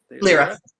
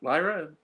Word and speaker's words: Lyra: uh what is it lyra there and you're like it's lira i was like yeah